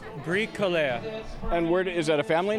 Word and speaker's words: Bricoleur: Well, what is the proper pronunciation? Bricoleur.